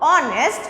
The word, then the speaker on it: honest: Though it is a consonant, but when we pronounce our honest, it is when you are pronouncing that, it is forming a vowel sounding word.